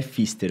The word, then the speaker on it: Pfister: Fister. Desculpa. Fister! A gente é assim, não, por Breno favor. Fister. Fale seu nome corretamente. Meu sobrenome é Fister, o P é Pronto.